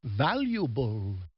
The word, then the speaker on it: valuable: in the proper order remember the E is silent in the word valuable yeah and there's a